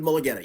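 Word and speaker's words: Mulugeta: But his agent is, and I always pronounce his name, Mulligetta or Mulligetta? David Mulligetta, yes.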